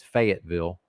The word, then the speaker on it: Fayetteville: Cruise up to Fayetteville. Ridiculous pronunciation. It's not Louisville, people. They've turned. Why is Fayetteville now Louisville? Fayetteville. Ridiculous. I refuse to pronounce it that way. It's Fayetteville.